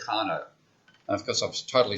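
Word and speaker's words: Carnot: by a guy called Carno. And of course I've totally stuffed the pronunciation. It's another French name C A R N O T.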